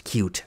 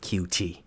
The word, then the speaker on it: Qt: gonna use cute yes it's pronounced as cute not QT cute to create the